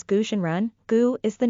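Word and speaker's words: 蛊真人: another name Taoist goo the Chinese name is pronounced as gooshenran gu is the name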